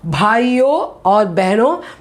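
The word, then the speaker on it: भाइयों और बहनों: So next time if you have not heard, you listen how he pronounces that. It is Bhayo or Behno.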